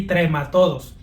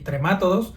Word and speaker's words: trematodo: Aunque normalmente se escucha pronunciar las palabras como "nemátodos", "céstodos" y "tremátodos", lo cierto es que gramaticalmente si fueran palabras esdújulas deberían de llevar acento, pero como no lo poseen, la manera correcta de pronunciarlos es nematodo, cestodo y trematodo.